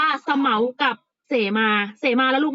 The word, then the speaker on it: เสมา: ประมา คำ ว่า เสมา เสมา ลูก อ่าน ว่า สะ เหมา กับ เสมา เสมา แล้ว